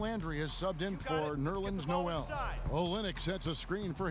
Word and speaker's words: Noel: then too all right note to self nans Noel like The First Noel now here's Marshall he's